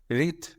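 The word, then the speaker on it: wreath: या लहराया देखते आगे रिथ वी रिथ डब्लू आर ई ए टी एच इसमें डब्लू साइलेंट है त ये नाउन और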